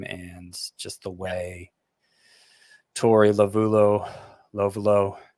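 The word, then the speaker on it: Lovullo: just the way Tori Lovulo, how do you say? I never know how to say his name. Tori Lovulo, right? Lovulo, you had it right.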